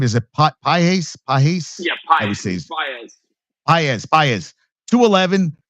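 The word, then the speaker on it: Pages: Yeah, Paez.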